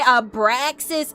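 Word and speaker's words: Abraxas: Abraasis is how you pronounce his name.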